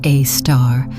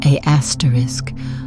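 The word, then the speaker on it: Sagittarius A*: That's pronounced a star, not a asterisk, unless you're trying to annoy astronomers.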